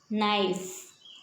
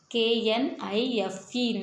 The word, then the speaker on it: knife: Knife, K-N-I-F-E, knife, K-N-I-F-E, knife. Here K is a silent letter, so knife is used to cutting all vegetables and fruits.